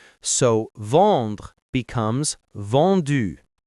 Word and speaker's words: vendu: So vendre becomes vendu.